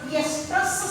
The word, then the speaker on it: estrus: That cycle is referred as estrus cycle. Estrus cycle. ESTRUS, or it is also written as OESTRUS. Estrus cycle. So both are same. So that is pronounced as estrus cycle and as well as estrus cycle.